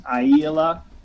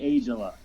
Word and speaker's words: Aijala: Well, technically, the pronunciation in Finland, it's a Finnish name, is Aijala, and there's dots over all the A's. But in America, we say Aijala.